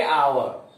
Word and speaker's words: hour: जैसे आवर लिखते हैं HOUR, लेकिन बोलेंगे आवर, H यहां साइलेंट है।